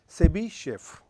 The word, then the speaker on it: Chebyshev: So, this is Chebyshev, right.